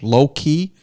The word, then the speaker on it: Loki: to come out to Low Key in Drake, Massachusetts, Low Key. It's in Drake, Mass. Sounds like an R&B band from the 90s. It's spelled Loki. Yeah.